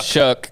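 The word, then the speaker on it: Shough: How do you say Shuck? Yeah. How do you get that out of that name? I don't know. But it's how it's pronounced.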